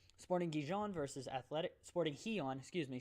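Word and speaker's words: Gijón: gijon vs athletics sporting he on excuse me shout out christian for the connect printer correct pronunciation there he on not doesn't matter they're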